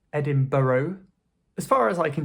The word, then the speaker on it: Edinburgh: But commonly in speech, people will just say Edinburgh, Edinburgh. So "ed-in-bra". Edinburgh.